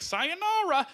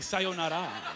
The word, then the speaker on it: sayonara: You gotta say it like, you can't say like sayonara, you gotta say sayonara, right?